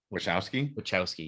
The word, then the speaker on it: Wachowski: Wachowski, yeah.